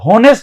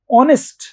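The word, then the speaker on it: honest: आप article use करो तो ये होनेस्ट नहीं है को मत बोलो ओ से शुरू करो ऑनेस्ट ऑनेस्ट ही इज़ एन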